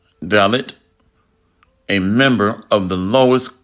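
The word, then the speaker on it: Dalit: this up real quick a dallot in India pronounce dallot a member of the lowest class in the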